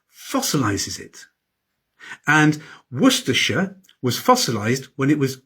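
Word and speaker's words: Worcestershire: So what about Worersha?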